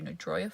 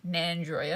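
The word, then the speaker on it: Nandroya: It's actually where you start the walk to Nadroa Falls. I think it's like a 7 km circuit. So, we're going to do that today. Nadroa. Nand sorry, Nandroa. I'm saying it wrong.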